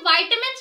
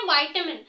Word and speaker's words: vitamin: या विटामिन पढ़ेंगे क्योंकि काफी लोग इसे प्रोनाउंस करते हैं विटामिंस काफी लोग प्रोनाउंस करते हैं वाइटम तो इन दोनों में से करेक्ट कौन सा है वेल स्टूडेंट इन दोनों में करेक्ट यह दोनों ही वर्ड है यानी विटामिंस भी